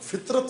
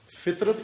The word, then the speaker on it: فطرت: توئے رے تے فطرت، لیکن اس تلفظ کے ساتھ فطرت یعنی فے کے نیچے زیر ہو. فطرت، فطرت نہ فطرت، فے کے نیچے زیر ہو، توئے کے اوپر سکون ہو، جزم ہو، اور رے زبر ہو، تے جزم ہو.